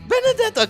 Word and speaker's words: Benedetta: Yes, how do you pronounce it? Benedetta, because that's the Yes.